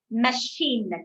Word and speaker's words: machine: CH is pronounced as sh. Sh. Normally, CH we don't pronounce it sh. We pronounce either a cha sound or ka sound in English. Chair, isn't it? Or cheat. So this has an ish sound. So again, it is a French thing. Wherever you have a C and a H, you're going to pronounce it as sh. Machine, cliche, right?